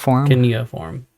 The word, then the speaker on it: cuneiform: Cuneiform.